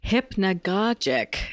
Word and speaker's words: hypnagogic: discussing what I have come to understand is pronounced as hypnogogic States so hypnogogia is essentially a sort of